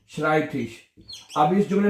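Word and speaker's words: Schreibtisch: आई इकट्ठा आया है इ आई इकट्ठा है तो क्या बनेगा आई बनेगा ठीक है शराइब और उसके बाद ठिश श्राइब थिश कहते हैं मेज को ठीक है शराइब थिश अब इस जुमले में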